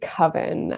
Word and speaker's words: coven: you say that nicole i go with coven uh kevin right rhymes with others right okay i think